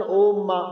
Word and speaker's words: اوم: پتہ چلتا ہے کہ ایک لفظ وہ بولتے ہیں اوم، جس کو تلفظاً اوم بھی کہتے ہیں، میم پر زبر ڈال کر۔ یہ جب ہندو یوگی